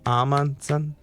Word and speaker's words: Amundsen: that 3 syllables, by the way? Amundsen? Yeah, it's 3. Yeah. Safely 3.